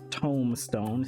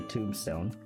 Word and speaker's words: Tomestone: I'm guessing for the way I say Tomestone instead of well, I'm saying it right now. I didn't say Tombstone.